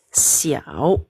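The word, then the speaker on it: 小: Xiao ya, pinyin-nya. Ini bacanya si ya, i au ya. Nah, ini nada ketiga. Penempatan tanda baca ini ya, kalau yang 3 jadi di antara 2 ini ya, xiao.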